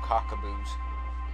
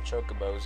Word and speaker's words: chocobo: You know, I always called them cockaboos. I never called them chocobos until I heard them actually pronounced right.